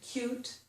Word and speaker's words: cute: Notice on the word cute, I put a little y or a little y above the word cute. In English, the letter y sounds like y. And in this word, cute, it sounds like coyote. Cute, cute.